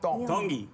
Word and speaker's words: Tongi: IAM Tongi. Tongi. You pronounce the T's like a D in the Tongan culture.